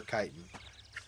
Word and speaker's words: chitin: but he won't he can't do the k for chitin I'm like bruh what are you doing it's a safe it's the same spelling both of them are Greek the Lichen that I